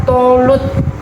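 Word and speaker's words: Thalut: memimpin peperangan ini adalah Talmud tapi kalau dibaca bacanya tholut ya teman-teman ya oke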